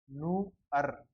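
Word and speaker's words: nur: जैसे एक जो वर्ड होता है वो होता है एन यू आर, न, उ, नू और अर, नू अर।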